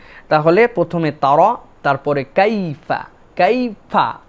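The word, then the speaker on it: كيف: 2 নম্বরে কাইফা, এখানে মনে রাখতে হবে কাইফা, এই যে ইয়াটা, এটাকে বলা হয় লিন। আরবিতে একটা কায়দা আছে লিন, এটা হচ্ছে নরম করে উচ্চারণ হবে। ইয়ার উপরে সাকিন, আগে যদি জবর হয় তাহলে আমাদের জন্য এই ইয়াটা কাইফা এরকম যেন না হয়, কাইফা কাইফা, মানে এটা একটা নরম হবে, লিন।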